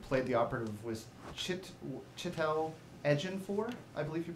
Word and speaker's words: Ejiofor: And the name of the actor who played the operative was Chitel Ejiofor, I believe you pronounced it.